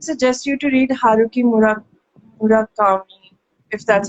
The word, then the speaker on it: Murakami: Yeah, I would suggest you to read Haruki Murakami, if that's how you pronounce his name. Uh, that is, I think that I don't is. know what's his name. It's Murakami, and I am actually going to read her one book.